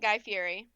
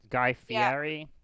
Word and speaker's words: Guy Fieri: my son is sick guy fury alright also apparently that's not how you pronounce his name what guy fairy yeah it's like Guy Fieri oh did you look